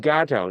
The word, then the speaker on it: gato: I always remember the A is pronounced like father. So, gato.